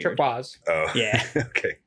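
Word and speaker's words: Turkuaz: Like, yeah, it's Turquaz. It's spelled all weird. Turquoise.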